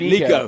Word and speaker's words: Nico: He said, yeah, here's how you pronounce it, Nico.